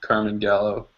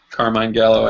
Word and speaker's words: Carmine Gallo: talk like Ted by Carmen gallo carmine Gallo i think is pronounced it um he